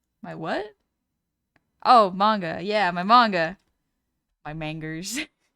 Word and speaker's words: manga: My dad used to call it mangoes. because he didn't really know how to pronounce it.